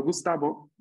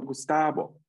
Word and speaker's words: Gustavo: O sea, no Gustavo, sino Gustavo. Abo.